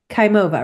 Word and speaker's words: Khaimova: Khaova, right?